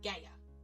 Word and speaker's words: Gaia: Chaos had 4 children: Nyx, Erebos, Tartarus, and Gaia, or Gaia, depending on how you say it.